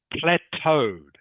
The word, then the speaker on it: plateaued: have seen before everyone it is a French word okay plateaued is how it's pronounced plateaued can you say